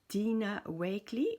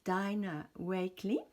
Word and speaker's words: Dina Wakley: ça s'appelle un media journal et c'est de Dina Wakley, ou prononcé en anglais Dina Wakley.